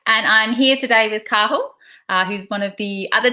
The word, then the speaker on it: Cathal: like you said and I'm very very good pronunciation there of my name I appreciate that so yeah mine is Carl I'm 24 from Ireland and like Danielle said